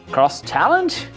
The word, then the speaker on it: XChallenge: today, and fun fact, BMW really wanted people to pronounce the X as cross. Which makes sense for cross-country, but cross-moto and cross-challenge? Don't know about that.